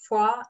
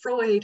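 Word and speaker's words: Froid: f-r-o-i-d and it's pronounced foie in french it means cold and it's pronounced freud in english like sigmund freud and my family has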